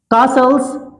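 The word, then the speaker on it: castles: तीसरा इडियम देखते हैं, कासल्स इन द एयर। कासल्स इन द एयर, कासल्स का मतलब होता है किले, यानी फोर्ट भी कह सकते हैं, किले। कासल टी साइलेंट रहता है, कासल्स इन द एयर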